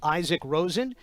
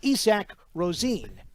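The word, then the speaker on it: Isak Rosén: and for the record while we here in the United States might pronounce his name Isaac Rosen in Sweden we might be pronounced ISAC Rosine so we'll see how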